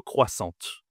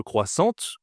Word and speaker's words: croissant: Et est-ce que je dois dire le croissant ou le croissante ? Le croissante ou le croissant ? Bien sûr, ici je ne dois pas prononcer le T. Je dois dire le croissant.